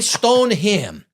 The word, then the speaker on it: Stoneham: I did a video there and I said Stonium. People were ripping me up over it. He must not be from around here. He's from Rhode Island. He's from here. He's I could say it however the hell I want to say it. All right. I say stone him.